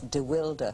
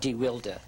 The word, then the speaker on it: deWilde: remember, by the way, he had a different pronunciation. It was DeWilde. DeWilde.